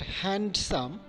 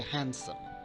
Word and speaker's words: handsome: For example, Wednesday, not Wednesday, not handsome, rather we should say handsome.